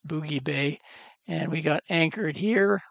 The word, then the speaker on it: Boughey Bay: got down here to they pronounce it Boogie Bay, I'm told. Kind of looks like Bowie Bay, but it's Boogie Bay.